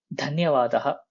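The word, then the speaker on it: धन्यवादः: சிந்தா master கவலை வேண்டாம் தன்யவாதஹா நன்றி சோ தன்யவாதஹா நன்றி சோ இங்க தா வந்து மகாபிராண தா லாஸ்ட்ல விசர்கா வரும் தன்யவாதஹா நன்றி அப்படின்னு அர்த்தம்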